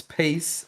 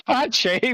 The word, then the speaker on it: Pace: Yeah, it's Pache, but I like it how you call it Pace because Autodrome Jose Carlos Pace because people have face on it. All right, this is kind of nice. I've never pronounced it like that.